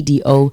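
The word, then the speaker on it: Doux: d d d d d o u x I love the do pronounced like morning dew.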